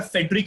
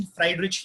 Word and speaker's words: Friedrich: George William फ्राइडरिच Hegel, कोई pronounce करेगा फेडरिक Hegel, but इसका प्रॉपर प्रोनाउंसिएशन फ्राइडरिच हेगल है। फ्राइड राइस नहीं, फ्राइडरिच हेगल, याद रखो।